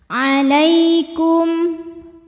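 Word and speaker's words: عَلَيْكُمْ: Lai ada harfulin sebab ada ya sukun didahului baris fathah, maka dibacanya lembut. Alaikum. Kum ada hukum izhar syafawi karena mim sukun menghadapi huruf selain mim dan ba, yaitu huruf waw, maka mim sukun dibunyikan dengan jelas.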